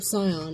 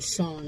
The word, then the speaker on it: Sion: So, first of all, I have been for a good chunk of the book calling his name Scion. And now that she's saying Shawn, it's really throwing me.